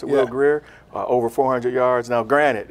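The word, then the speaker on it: Will Grier: I'd say something else that stood out for me, West Virginia's quarterback, is that Will Greer, pronounce it Will Greer, over 400 yards.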